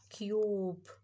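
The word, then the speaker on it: cube: تعالوا نشوف كده يو كيوب كيوب يعني هنا القيمه اتنطقتش وخلت اليوم قالت يو كيوب كيوب يعني مكعب تمام طيب تعالوا نشوف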